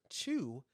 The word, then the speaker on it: qu: QU, but it's pronounced chew.